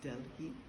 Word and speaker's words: Delhi: Then we had 2 hours in Delhi, which is pronounced Delhi, and pretty much an airport, like all airports.